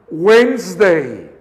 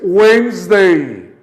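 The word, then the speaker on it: Wednesday: bale y usted weinstein date cuenta que la d y la e de medio sé que en esto lo voy a marcar con rojo estate y esta y no la pronunciamos entonces suena weinstein otra vez weinstein por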